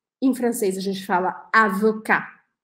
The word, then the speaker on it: avocat: por exemplo advogado em francês a gente fala avocar avocar sem falar o texto deixa a boca aberta